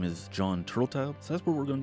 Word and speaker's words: Turteltaub: According to one of the pronunciations that I heard was that his name is Jon Turteltaub, so that's what we're going to go with.